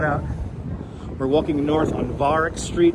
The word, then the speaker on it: Varick: We're walking north on Varick Street right now, approaching, we're just a few blocks south of Canal right now.